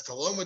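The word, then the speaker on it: Tullahoma: It's 106 Southside Streets in Toloma, Tennessee, as our Tennessee people have helped me figure out that pronunciation over the last few months. But that's Toloma, Tennessee.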